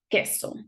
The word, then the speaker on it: queso: This queso, cheese. You see how I don't pronounce the U and the sound is like a K?